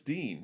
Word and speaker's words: Din: going to be gangadeen it's spelled d-i-n but according to the poem it rhymes with words like queen so it's dean and also they say